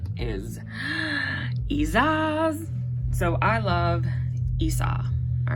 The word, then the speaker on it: Isa: Okay, so Isa. There's different ways you can say it. I've literally listened to a woman who is Scandinavian and she pronounces it Isa, but I always pronounce it Isas. Like there's an S or something at the end, but again, that's your own discretion.